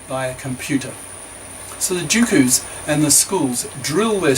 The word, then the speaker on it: jukus: To exploit this education mania, private after-school grammar schools called jukus, pronounced jukus, have sprung up, which drill students to get better results in the entrance exams.